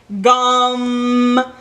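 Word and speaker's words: Gam: one we have is gum which you really elongate the a a so it's spelt like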